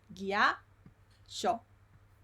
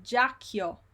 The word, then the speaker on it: ghiaccio: Ghiaccio. This is a tricky word there. Ghiaccio. ghiaccio. Allora, Michael dice ghiaccio, Ghiaccio. Esatto. Brahimi dice giacchio. No, ghiaccio.